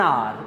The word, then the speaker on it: hour: Again, H is silent and therefore we have an before the word R. An hour. You are late for an hour, right?